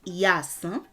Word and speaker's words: Iyansan: Ìyaàsán is how you say it now. The contraction of that is Iyansan.